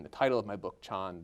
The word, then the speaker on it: Chan: title of my book Chon this is the Chinese pronunciation of the word Zen in Japanese which is of course